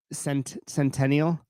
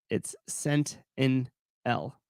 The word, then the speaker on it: Centennial: I said it wrong. Centennial. Matt, it's Cent in L.